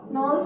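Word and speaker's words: Knowles: फिर एंड्रागॉजी एडल्ट के लिए, इसको नॉल्स ने दिया था, नॉल्स बोलते हैं, इसमें के साइलेंट है।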